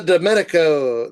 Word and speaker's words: Di Giandomenico: Do I like the Di Giandomenico Di Gia Oh, I'm going to say that name wrong six different times. Di Gia Di Giandomenico, there we go.